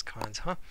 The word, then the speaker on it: cons?: Sometimes cons question mark we pronounce as cons, huh?